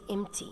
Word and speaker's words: empty: as you can see the v before the t is a silent letter i say empty means not containing any